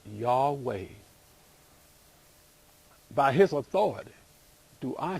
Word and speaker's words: Yahweh: into English as Jehovah Jehovah is a misspelling it was originally pronounced y'all way by his authority do